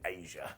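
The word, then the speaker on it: Asya: Number 14, Asia. So look, this is spelled A-S-Y-A, and she was only called Asia because WCW wanted their own version of China.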